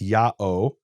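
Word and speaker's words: ΙΑΩ: written Yota Alpha om om GA which is pronounced yaho and some people have suggested that that is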